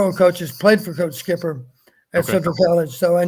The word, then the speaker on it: Schipper: Somebody in the chat asked if you know who Ron Shipper is. Ron Skipper. I'm sorry, Skipper. Okay, I'm Yes.